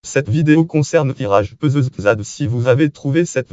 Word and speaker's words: Pezeshkzad: Iraj Peuzezad en persan. Iraj Peuzezad prononcé pour les francophones Iraj Peuzezad ou Zad comme le A anglais de Garden, né en 1928 à